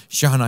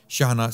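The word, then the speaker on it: Chejne: Anwar Shahna, his name is spelt, his surname is spelt with C-H-E-J-N-E. Okay, you may think this is a strange spelling of Shahna, but this is how his name is spelt. Anwar, A-N-W-A-R, Shahna, C-H-E-J-N-E. Okay, and the book is titled The Moriscos.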